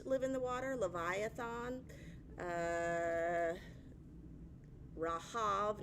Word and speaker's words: Rahab: So always the Old Testament worldview is water is chaos, monsters live in the water, Leviathan, Rahav, not Rahab, another monster spelled the same way.